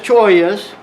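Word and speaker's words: cholla: They're humongous choyas. How do you spell that?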